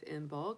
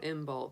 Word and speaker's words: Imbolc: um today is actually the official day of inbulk that um you know yesterday was technically like